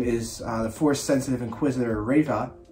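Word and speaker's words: Reva: the force sensitive inquisitor rava i think that's how you say it reba r-e-v-a riva we will pry will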